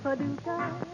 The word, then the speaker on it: Paducah: Paducah, if you want to, you can rhyme it with bazooka. but you can't poo-poo Paducah. That's another name for paradise. Paducah, Paducah, just a funny little city in Kentucky.